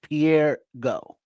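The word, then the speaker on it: Pierre Ngo: Nago. Go. How do you pronounce that? You the N is silent.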